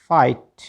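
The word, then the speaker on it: fight: TAUGST taught, GH silent है। FIGST फाइट, BRIGST ब्राइट, DELIGST डिलाइट, और SLIGST स्लाइट, MIGST माइट, और KNIGST नाइट।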